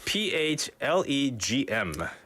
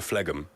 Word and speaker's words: phlegm: It's P-H-L-E-G-M. 그죠? 이 G는 묵음입니다. There's no sound. You don't go phlegm. It's phlegm.